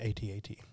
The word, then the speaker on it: AT-AT: None of the other ones are pronounced different. It's the letters of the acronym. Like ATST, right? Yeah. Yeah. Yeah. Yeah, but not AT-AT.